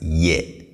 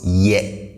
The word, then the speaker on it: yɛ: one and that is yet yeah now please pay attention to how i pronounce this i say ye not yet okay so the tone is on the lower side yeah yeah not yet